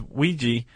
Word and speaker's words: Weegee: Although it would make sense because Ouija, which he adopted that name, but he spelled it phonetically Weegee. Just call me Ouija.